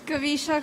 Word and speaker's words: Kavisha: Kavisha.